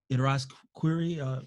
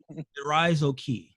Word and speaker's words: Irazoki: So Javier Irazquiri, sorry, I apologize for your name, for getting your name wrong. Says Superman is You should apologize, mate. That was awful. Let me try it again. Irazoki.